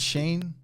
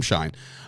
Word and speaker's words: Schein: Is it Shane? It's Adam Schein.